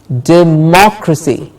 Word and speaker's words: democracy: sound which is democracy democracy the muck gets the stressed dick macro see it's not a democracy it is democracy democracy then we have